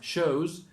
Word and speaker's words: shows: It's shows. That is a Z.